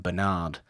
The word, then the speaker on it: Bernard: mentioned the relevance of Bernard Herrmann's score. No, we haven't, but I disagree and actually disregard the fact that you call him Bernard because his name is Bernard. Whatever. Because that's how it's pronounced.